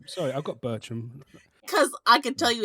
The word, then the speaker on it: Bertram: think you know what that's not what you've been saying you been Bel but it's ber sorry I've got Bertram cuz I could tell